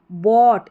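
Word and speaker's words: bought: का मतलब ध्यान से बोट इसको बोट पढ़ेंगे यहां पर जी एच साइलेंट है बी ओ यू जी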